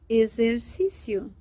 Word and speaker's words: exercício: When it comes between two vowels, it sounds like a Z. For example, the word exercício, exercício, which means exercise, exercise. Exercício, it sounds like a Z in Portuguese.